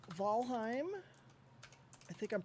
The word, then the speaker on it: Valheim: so the server is going to be it's valheim i think i'm pronouncing that right jolene yes i own jolene.g